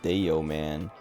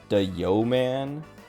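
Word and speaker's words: Dayoman: name of Deo man spelled like d a y o m a an uh he tells the story every now and then but like it's it's cuz it's supposed to be the yo man cuz uh he used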